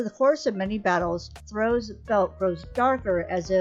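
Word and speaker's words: Throh: I think it's throw I think the H is silent at 538 it is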